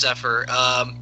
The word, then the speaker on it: Zephyr: Did I get that right? Yeah, it's pronounced Zephyr.